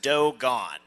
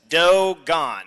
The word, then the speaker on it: Dogon: It's Dogon, as in all the dough is gone.